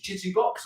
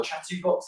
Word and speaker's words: Chitubox: One that I've done a few videos on prior, which is Chitubox or Chatubox, however you like to pronounce it.